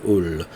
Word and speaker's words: Houle: So yeah, so for this guy in French it would be Martin Hull, as if the H wasn't even there at all.